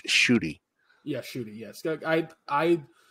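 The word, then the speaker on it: Ncuti: it's it's it's spelled ncui TI but it's pronounced shoy yeah shoy yes I I in my brain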